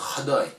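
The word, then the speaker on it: caday: D'autant que dans le texte, il y a un autre mot en Somalie qui s'écrit C-A-D-A-Y, j'y reviendrai, et qui lui se prononce Khadai.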